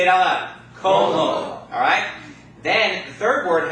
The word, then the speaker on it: como: The next word also ends in a vowel, so it's going to be pronounced como. Everybody say it out loud. Como.